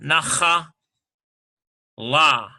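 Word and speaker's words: נחלה: And so they want you to point that, so they're throwing a patach, na, cha, it's a reduced patach, nacha, la, nachala.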